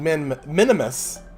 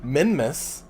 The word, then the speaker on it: Minmus: to land on minmus I've been told I've been saying men minimus which apparently I have been but it's actually minimus there's no other M so I'm gonna try and pronounce it better this time so today